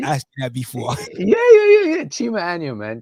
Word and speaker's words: Chima Anya: Chima Anya, man. Chima Anya. I notice Americans always like to put a little E where the A is, but it's like Anya, or Anya.